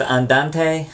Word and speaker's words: andante: sure you know those three Tempo terms it's pronounced Andante Mado and algro don't say it wrong I